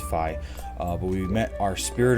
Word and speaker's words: Fi: Last time we met Fi, or Fi, I think it's pronounced Fi, but we met our Spirit of the Sword,